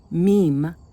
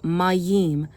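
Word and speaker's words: מים: So how do you pronounce this word? It's not um meim. It's maim because the word water comes from the word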